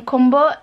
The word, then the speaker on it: Kumbo: My grandma used to call them Kumbo.